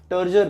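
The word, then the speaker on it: turgor: उसमें लिखा है डिफाइन टर्जर प्रेशर। अब आप इसको टर्जर बोल लो या टर्गर बोल लो। कैसे भी प्रोनाउंस कर सकते हो।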